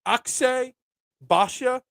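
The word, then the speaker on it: Akshay Bhatia: Akshay Badia.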